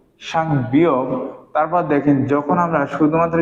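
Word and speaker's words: 쌍비읍: কি বলবো সাংবিয়োগ সাংবি যখন আমরা শুধুমাত্র বিয়োগ লিখবো তখন হবে কি ব আর যখন সাংবি লিখবো তখন এর উচ্চারণ হবে কার মত পর মত সাং বিয়োগ তারপর দেখেন যখন আমরা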